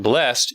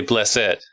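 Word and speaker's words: blessèd: Instead of saying blessed, you say blessed. And so basically, it basically means you pronounce the E where normally you wouldn't.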